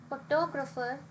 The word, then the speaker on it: photograph: if you see photograph photographer and photographic all these three words have different stress so the photograph has the stress on the first syllable whereas photographer has stress